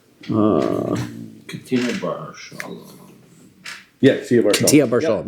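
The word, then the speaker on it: Ketia bar Shalom: Katina Bar Shalom. Did I say his name right? Katina Bar Shalom. Yeah, Katia Bar Shalom, right?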